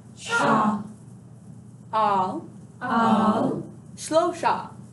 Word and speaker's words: Shlosha: Now, there's a specific syllable in here that I think can get a little bit crazy. Shlosha. It's kind of a funny word. It's gotta love that shh sound.